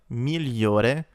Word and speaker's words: migliore: The GLI makes a lia, migliore, kind of like the sound in million.